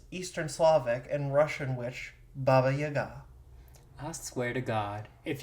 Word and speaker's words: Baba Yaga: And it is so a lot of people do like it's pronounced B A B A Y A G- A. So a lot of people say Baba Yaga, but it is Baba Yaga.